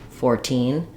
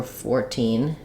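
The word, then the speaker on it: fourteen: to see kind of secondary stress on the first syllable primary stress on the second syllable 13 14 but if I'm counting 14 15 16 I can count and stress on the um primary syllable to so for 14 it's also correct to have primary and secondary stress basically in the teens you need to stress both of them and depending on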